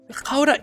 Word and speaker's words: Gouda: Gouda is the way you're supposed to pronounce that.